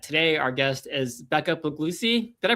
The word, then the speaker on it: Puglisi: our guest is Becca Puglisi. Did I pronounce that right? Your last name right, Becca? I meant to ask you that backstage and I, you know Yeah, it's Puglisi. Close enough.